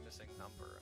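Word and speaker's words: MissingNo.: though it's not the correct pronunciation that's just missing no I've gotten heat for not calling it for not pronouncing it missing number and I'm like that is like an entire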